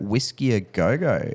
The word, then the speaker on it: Whisky a Go Go: had on the cards, and that was at Whisky a Go-Go, I'm pretty sure.